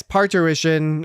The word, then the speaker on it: parturition: you how do you think it's said Jesse parition sure I mean when he says it it sounds I think so uh yes parition uh Jess J Jesse pronounced it correctly Star Trek parition it is